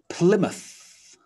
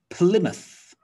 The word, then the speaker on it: Plymouth: we check all right plymouth plymouth so the m-o-u-t-h sound looks like and sounds like mouth but in a town name it's reduced down to muth muth so what do we know about plymouth so sir francis drake